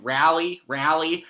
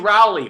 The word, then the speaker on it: Raleigh: I didn't know how to pronounce it. I kept calling it Raleigh, and Fight Geek helped me. So UFC Raleigh, Blades versus Dos Santos.